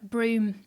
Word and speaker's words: Broome: and that was what broome how do you spell that b-r-o-o-m-e yeah broom so it's like a broom a broom with any on the end yeah on the end